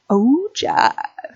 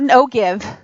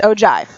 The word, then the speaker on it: ogive: our curriculum and it's something called an ogive Oh Jeff it's not no give it is pronounced ogive now another term for an ogive which kind